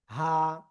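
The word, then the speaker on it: ه: তো এই অক্ষরের নাম হলো হা। এই যে গলার শুরু থেকে এই অক্ষরটা উচ্চারিত হয়। হা, হা। এক আলিফটা নিয়ে উচ্চারণ করবো।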